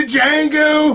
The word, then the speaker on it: Django: Oh yeah, he's like, damn you to Django! The D is silent.